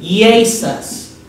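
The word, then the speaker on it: Iesus: right pilots are Roman let's talk about that Latin is actually e ASIS now did you notice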